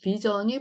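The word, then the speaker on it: vision: 네, 어쨌든 여기서 SIO에는 전 발음이다. 앞에 모음이 붙어 있다 이 말이고요.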